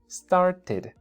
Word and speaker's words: started: It's not number two It's number three Start porque termin con una T started started started que ya en una plática común y corriente no es muy común decir started es más común decir started pero al principio está bien que digamos started okay Porque el sonido